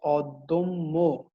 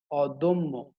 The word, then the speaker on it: অদম্য: এই মধ্য অয়ের পরের ধ্বনিতে জ ফলা আছে, এজন্য মধ্য অটি ওতে রূপান্তরিত হচ্ছে, দটি দো হয়ে যাচ্ছে, দটি তো হয়ে যাচ্ছে। তাহলে এটির উচ্চারণটা কি হচ্ছে? অদম্য। খেয়াল করবে, অদম্য।